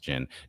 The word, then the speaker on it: Djinn: I think it's pronounced Jin.